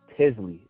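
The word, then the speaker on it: Tizly: from others who use it the name is tisley and it's spelled t-i-z-l-y and the way we got that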